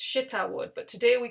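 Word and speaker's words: shittah: it's actually it's an arabic word and it's pronounced shita so it's shita wood but today we call it acacia wood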